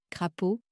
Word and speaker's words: crapaud: Parfois, le son O à la fin d'un mot ne s'écrit pas E-A-U. Par exemple, crapaud, C-R-A-P-A-U-D.